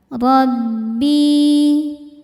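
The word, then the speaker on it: رَبِّي: Illa ayyasha'a rabbi. Ra dibaca tafkhim karena berharokat fathah, maka ra-nya tebal.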